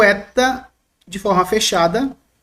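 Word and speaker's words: ἦτα: Transliteração, nosso E. Esse tracinho em cima indica que esse E é longo. Como na palavra benigno, observe que o E aqui, ele se torna mais longo, mais demorado.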